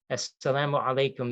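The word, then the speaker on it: as-salamu alaykum: heard this quite a bit the the phrase assalamu alaikum this is how you say this is one way of extending a greeting in arabic for muslims as salaam alaikum it translates literally as peace be upon you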